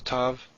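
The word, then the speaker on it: תו: So the tav and the tet, pronounced t.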